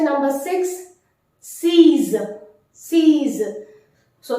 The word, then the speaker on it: six: to say number six sees sees so the pronunciation exactly like the English word sees C is X here